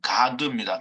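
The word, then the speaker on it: גד: 사실상 이 가지라고 하는 스트롱 코드가 1413인 이 1407인 이 가드는요. 가드입니다. 그냥 발음이 가드예요. 그래서 그걸 붙여서 읽으면 갓이 됩니다.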